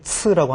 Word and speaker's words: 次: 자, 발음이 츠라고 하는데 이 츠는 동사 뒤에 붙어가지고 동작의 횟수, 동작의 양을 말하기 때문에 동량사라고 하거든요.